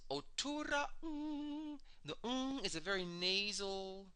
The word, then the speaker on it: Otuuraa'ng: Now, this sound, it's Otuura, and you have to have a slight stop after the A in Otuura. Otuura. It's Otuuraa'ng. There's a slight pause between the part Otuura and Ung. Ung is spelled like the last two letters in the word sing, just the N and the G. N as in nice, G as in go. So it's Otuuraa'ng.